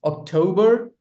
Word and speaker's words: October: October, November, December. The stress lies on the second syllable.